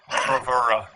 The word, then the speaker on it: Bravura: Bravura.